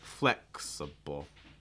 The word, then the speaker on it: flexible: flexa um but the the key word part of this word is the the first syllable that's your stress like flex flexible yeah um and for that a sounding able just a quick note it's the same as the first letter the the alphabet a the letter A okay but for for flexible flexible um again stress on that first syllable flex and everything else is